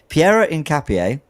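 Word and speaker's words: Piero Hincapié: Pierro incap incap incapier Pierro Incapier I've been told how to pronounce it. Pierro Incapier Ecuadorian 23-year-old left back/left center back 6' tall plays for Leverkusen is looking like he's going to join Arsenal.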